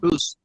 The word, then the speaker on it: Booze: I think the pronunciation is Booze. Is that the last name? Is that correct, Julia? Booze? Boost. Yeah. Booze.